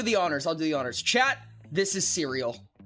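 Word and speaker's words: Cyreil: His name is spelled C Y R E I L. So a lot of people call him serial.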